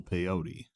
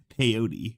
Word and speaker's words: peyote: peyote of peyote peyote rhymes with rhymes with coyote i think i think i don't think i have that wrong i i remember watching